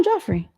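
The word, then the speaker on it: Geoffrey: Joffrey. Am I saying it wrong? Joffrey. So it was the Geoff, the giraffe? Yes. I think it's just Jeff. No, Joffrey.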